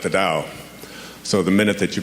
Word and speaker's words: Tao: as I've been researching Taoism which is spelled t AO is Mt AO the Dow the word Dow is